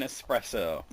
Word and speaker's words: espresso: Yes, there's no X in espresso.